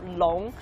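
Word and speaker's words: 龙: Dragon in Chinese is a long, and it's easy to pronounce though, long.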